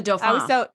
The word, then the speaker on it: Dauphin: Yes, the Dauphin. I always say Dauphine.